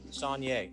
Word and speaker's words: Sonier: that's fine uh but i want you to tell me how to pronounce it so i get it right sonja sanye okay mr sonier uh good morning to